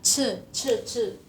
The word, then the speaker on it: 吃: Ce kan tulisannya CHI, itu dibacanya ce. Gak kelihatan ya? Tulis sebelah mana nih? Nih. 我要吃饭, kan biasa tulisannya 吃 makan. Ini dibaca ce, kayak mulutnya tuh harus kayak ce.